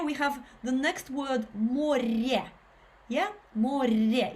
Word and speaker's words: море: We have the next word море. Yeah. Море. If you can roll your r. It's not a r, it's a r, more, not more, more.